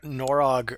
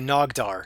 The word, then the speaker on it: Nogdar: talking about Norog earlier. Um Yeah, and or no, sorry, Nogdar. I don't know why I got his name wrong.